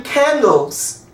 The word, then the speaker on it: candle: it clarifies the word so we say candle the last thing you hear there is the l you don't pronounce the e little l i t